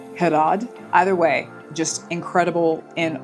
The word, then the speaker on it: Jared: His name is Jared, which is a truly American pronunciation of his name. I think he said it's pronounced Herad.